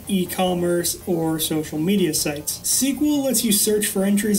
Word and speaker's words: SQL: SQL, pronounced SQL, stands for Structured Query Language.